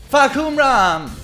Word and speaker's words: Fahkumram: Wait, how did he pronounce it? Huh? Fahkumram! Wait. I gotta turn it up. Fahkumram! Okay. Fahkumram!